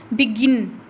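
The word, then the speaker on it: begin: फिर है बिगिन, बिगिन, गिन को क्या बोल रहे हैं, लाउडर बोल रहे हैं।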